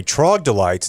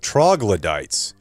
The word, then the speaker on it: troglodytes: You say trogdolites instead of troglodytes.